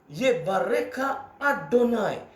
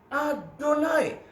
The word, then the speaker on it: Adonai: yang disembah oleh musaare adonai diucapkan dengan kata adonai padahal tulisannya dalam tulisan Ibrani yahwe tapi mereka tidak mau mengucapkan empat huruf suci ini mereka mengucapkan dengan sebutan lain adonai maka saudara ada kalimat